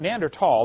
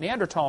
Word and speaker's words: Neanderthal: know the neander th neander tall the H is silent neander tall man is named after